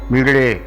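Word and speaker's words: मीळे: है क्या आखिर वो हो डा और ला के बीच की ध्वनि है। ज़रा उच्चारण में कठिन हो जाए, डा ला इस तरह से कहा जाए, ज़रा उच्चारण में कुछ कठिन होता है, लेकिन है वो डा और ला का मिला हुआ डा। तो मीड़े इस तरह से कहना चाहिए, मीड़े डा भी आवे ला भी आवे, तो सुमृडी का इस तरह से कहना चाहिए।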